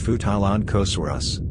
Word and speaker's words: Futalognkosaurus: the genus name is derived from the local indigenous language mapu dungun it is pronounced futalon kosurus futa means giant and lanika means chief it